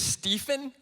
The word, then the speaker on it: Steffen: you would be like, that guy's name is not Stefan. That's way too cool, right? Definitely not, right? My personal favorite is Steffen. I think it's spelled like Stevfin.